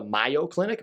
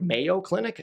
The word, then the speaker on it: Mayo Clinic: i went on the myo clinic mayo clinic not a mayonnaise website it is mayo clinic i said it wrong if you're from massachusetts